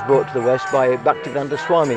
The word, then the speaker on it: Bhaktivedanta: Okay, and so obviously you've been to the manor there, the Bhakti, I can never pronounce it properly, Bhakti Devanta, Vedanta. Bhakti Vedanta.